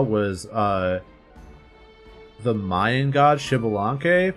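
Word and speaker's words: Xbalanque: Um, so the only coral area I could draw was uh the Mayan god Shibilank because like the X is pronounced like sh I said Shaadoo.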